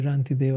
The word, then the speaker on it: Rantideva: So this is how you say Rantideva.